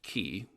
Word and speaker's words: ki: it is is in in japan uh it's pronounced ki okay in china it's